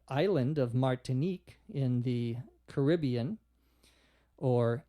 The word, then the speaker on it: Caribbean: of Martinique in the Caribbean or Caribbean you can pronounce it either way in American English Caribbean or Caribbean the question is about